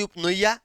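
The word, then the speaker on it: eupnea: और जब हम लोग सांस नॉर्मली लेंगे तो उसी को बोलेंगे उपनिया या उपनिया भी बोलते हैं इसको। निया भी बोलते हैं। हालांकि प का उच्चारण यहां पर नहीं होता है।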